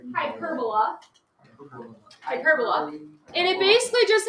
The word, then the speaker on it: hyperbola: So the shape of this graph is called a hyperbola. Don't say hyperbola. It's pronounced hyperbola.